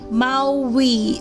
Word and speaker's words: Maui: So how do we have to pronounce Maui is Maui, okay?